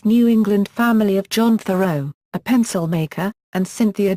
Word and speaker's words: Thoreau: life and education 1817 to 1836 henry david thoreau was born David Henry Thoreau in Concord Massachusetts into the modest New England family of John Thoreau a pencil maker and Cynthia Dunbar his paternal